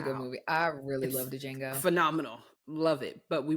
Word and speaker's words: Django: movie I really love Django phenomenal love it but we watch it a little bit said Jango you said Django she say Django on purpose I say Django he said the D is silent the D is it